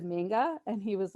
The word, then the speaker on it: manga: so um what is manga and it is pronounced manga i always review that with people because i